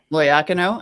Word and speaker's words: Loiacono: loyacano where does that where's the emphasis go and you're pretty pronouncing your last name ah cano loyacano i had it nailed